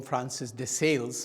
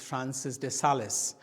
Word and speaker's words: Francis de Sales: Yes, some people in English call them Francis de Sales, but actually because it is a French name, it is the real pronunciation is Francis de Sales.